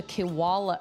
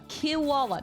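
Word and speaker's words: Kilwala: Those are called a kiwala. A kiwala. Not a koala. A kiwala. What?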